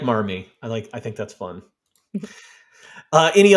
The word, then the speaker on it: Marmee: So because Massachusetts doesn't pronounce the R, so that's where that came from. That's interesting. So strange. But I like Marmee.